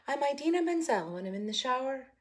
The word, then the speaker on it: Menzel: this song i'm um what's her name idina mendel what's her name what's her name idina i said it right i'm idina menzel when i'm in the shower or in my